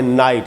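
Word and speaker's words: night: उसके बाद है नाइट। इसमें भी जी एच साइलेंट है।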